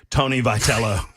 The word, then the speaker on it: Tony Vitello: I think his name is actually pronounced Tony Vitello.